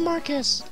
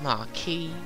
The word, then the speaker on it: Marquess: head through the passage to the throne room and rescue the Marquess. Once that's done, can you drive the enemy from the castle? I already told you it's pronounced Marquis.